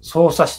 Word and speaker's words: 匝瑳市: 捜査市と読みますと。